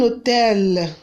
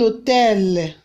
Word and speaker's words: hôtel: Un hôtel is what? Un hôtel. Un hôtel. Hôtel. Like the H is what? Silent. Un hôtel. Un hôtel. What is hotel called in French language? Un hôtel.